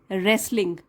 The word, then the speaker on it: wrestling: डब्लू जो है यहाँ पे साइलेंट है, यहाँ इसको नहीं पढ़ेंगे। रेसलिंग, टी भी साइलेंट है, डब्लू भी साइलेंट है, टी भी साइलेंट है।